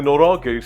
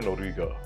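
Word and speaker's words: 노리개: Did I say norage or noriga? Norige is, I believe, how it's said.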